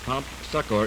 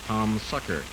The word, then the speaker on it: Prompt Succor: That's Prompt Succor, even though many of the kids in school mispronounce it and talk about Our Lady of Palm Succor.